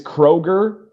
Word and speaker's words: Kroger: says, "I went to Kroger's in Michigan." Oh, so that one was plural. Kroger, no s. Okay. Yeah. So there's no s. But so many people say Kroger's and so many people say Myyers.